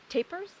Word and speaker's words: tapir: And the one thing we're really hoping to see today are tapirs or dantas or tapirs. Tapers, well, dantas. In English, I guess they pronounce it tapers. In Spanish, tapir. Tapir.